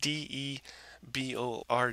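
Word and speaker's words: Debord: name's debor and it's spelled D e b o r d debor french guy from the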